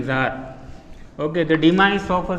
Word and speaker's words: Tsar: Two spelling for Tsar, Czar and Tsar, but pronunciation is same, Tsar.